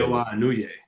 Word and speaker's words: Naoya Inoue: Naoya Inoue.